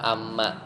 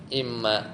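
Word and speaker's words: إمّا: Jadi kan ada yang bifathil hamzah bacanya apa? Amma. Tapi ini bukan amma tapi im imma.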